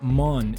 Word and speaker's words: مون: It's pronounced mon in formal sentences.